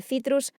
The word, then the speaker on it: citrus: Bueno, lo de citrus en realidad sería citrus si somos puristas en la pronunciación del latín, pero no.